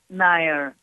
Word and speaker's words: Nair: And my name is Mira Nair. Oh, Nair.